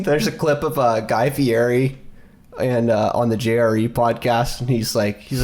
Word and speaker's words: Fieri: You know, it's Fieri.